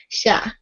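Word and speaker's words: 夏: were Le no yeah summer in Chinese is pronounced as Sha right so it's like it's more like s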